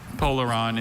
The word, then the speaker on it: polaron: Polaron is the only pronunciation I have.